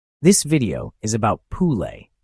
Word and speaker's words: Pule: This is the story of Pule, pronounced Pule, the Serbian word for foal.